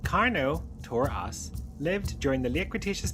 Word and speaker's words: Carnotaurus: Carnotaurus, pronounced carno to us, lived during the late Cretaceous period around 70 million years ago in what is now Argentina.